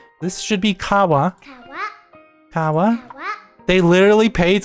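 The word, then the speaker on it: 川: Um, that is not helped by kids cuz kids don't always pronounce things exactly the way they're supposed to be pronounced, right? This should be kawa.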